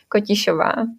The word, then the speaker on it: Kotišová: Like in the original version, the correct pronunciation is Kotišová.